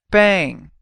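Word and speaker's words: bem: means well bang bang this word sounds a lot like the word bang in Engish English except you don't put the G sound at the end bang so Al together we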